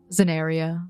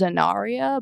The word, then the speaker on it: Zenaria: whole, oh, hi, Amelia, Zenaria. Yes. Hey, man. All of our names. Amelia, Wilson. Zenaria, Wilson, Michael, Aaron. It's actually pronounced Zenaria, but I get that a lot, don't worry.